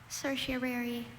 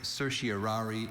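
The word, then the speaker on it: certiorari: Cersiary. Can I have the language origin please? This word passed to English from Latin. Cersiary. Are there any alternate pronunciations? There is cersiary. Cersiari and cerseri.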